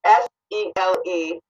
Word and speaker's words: Seleucids: of the Seleucids, and I can never pronounce that right. It's Seleucids.